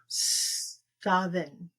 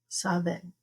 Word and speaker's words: Samhain: So MH is pronounced as V. So it would actually be Samhain. Okay. Samhain.